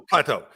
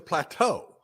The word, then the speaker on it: Plateau: Y'all got to learn how to say it. The Plateau. The Plateau. Not the Plateau. It's the Plateau.